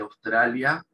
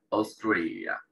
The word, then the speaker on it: Australia: Así de raro se pronuncia Australia en inglés. Australia. Esa A-U se pronuncia como una O.